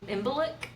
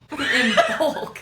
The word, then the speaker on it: Imbolc: Imbolc. In bulk. Imbolc. Yeah, it's okay if you butcher these names because I'm gonna butcher them.